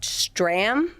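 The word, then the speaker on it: Strahm: So, Phillies baseball player Matt Stram, I'm going to say that's how you pronounce his last name cuz there's an H in there that doesn't belong.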